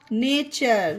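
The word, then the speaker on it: nature: Cup, them, नेचर। ये देखिए URE वाला है जो आज ही की क्लास में हमने सीखा, URE, तो इसे नेचर, अर का उच्चारण दिया गया इसमें नेचर।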